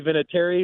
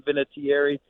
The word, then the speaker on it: Vinatieri: um yeah it's we we say vinatary but I've heard a lot of people pronounce it with more enunciation so if you want to call me Vinatieri knock yourself out I